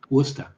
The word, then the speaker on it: Worcester: You are correcting my pronunciation on Worcester. Oh, that's right, Worcester.